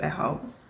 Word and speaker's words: ehals: Kind of doesn't matter how you pronounce it. I pronounce it ehals.